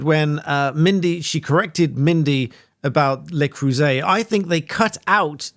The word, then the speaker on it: Le Creuset: And Megyn confirms, yes, Le Creuset, that's how you pronounce it.